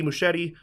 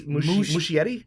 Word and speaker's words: Muschietti: Now, director Andy Muschietti introduced a making-of montage via video message.